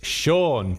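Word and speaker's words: Shawn: It's Sean, but you don't spell it like Sean. You spell it S-H-A-W-N.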